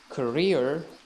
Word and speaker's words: career: uh have the same sounds they are not pronounced in the same way so career and carrier carrier mr jones has been working